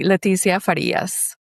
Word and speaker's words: Leticia Farias: So, can you pronounce it for me again, please? Absolutely. Leticia Faras.